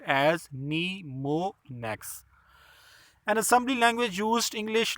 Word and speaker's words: mnemonics: It is pronounced as mnemonics.